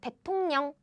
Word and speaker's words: 대통령: To pronounce easily, we change this to N. Like 대통령, 대통령. 대통령 means president of a country.